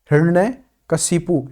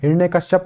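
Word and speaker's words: हिरण्यकशिपु: हिरण्य कशिपु, हिरण्य कश्यप नहीं होता है, ध्यान रखिए इस बात का। हिरण्य ही रण ये कशिपु ये होता है सही उच्चारण।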